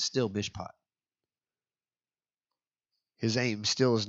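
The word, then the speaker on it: משפט: Spell it. M-S-H-P-T. Mishpat.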